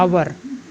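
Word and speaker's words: hour: तरीके से हम यूज करते हैं एन कि आवर तू कि एच ओ यू आर यहां भी मैच साइलेंट है इसलिए इसका उच्चारण आज से शुरू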